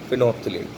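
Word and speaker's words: phenolphthalein: नाम से फिनोफ्थलीन, P silent होता है उसमें, सेकंड पी साइलेंट होता है, तो फिनोफ्थलीन।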